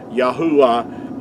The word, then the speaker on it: Yahuah: they had these word letters had to be pronounced making vowel sounds yahuwah is the way that our creator's name is